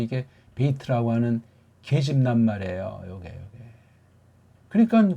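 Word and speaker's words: בית: 베이트 그렇게 읽어야 돼요. 소리를 베이트 그렇게 발음하면 매가리가 빠져요. 베이트 앞에다가 힘을 주고 뒤에 트라고 살짝 베이트 트를 소리의 틀이 안 잡히면 그 트자가 안 들려요 잘.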